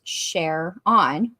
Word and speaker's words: Sharon: Sharon a guy that his name is pronounced share on he's in prison now